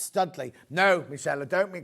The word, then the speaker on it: Studley: It's pronounced Studley.